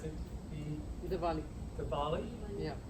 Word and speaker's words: Diwali: It is not, I'm going to mispronounce it, Diwali. Diwali? Yeah. Diwali.